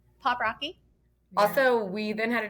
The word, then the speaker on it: Poprocky: want to make sure we're saying it right pop Rocky so we then had a discussion I think